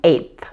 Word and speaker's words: eighth: we're just going to add th to the number 8 so you'll need to lightly pronounce the T at the end and then add the th sound you'll notice that the